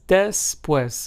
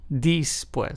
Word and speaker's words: después: For example, let's take a look at the Spanish word después, which means after in Spanish, is pronounced as después and not dispues. So, remember, the letter d in Spanish is pronounced as de and not di.